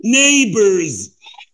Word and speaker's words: neighbors: ما تنساش CH تشا، يبقى نقول children, chicken, chips, beach, neighbors. Well, GH is silent of neighbors.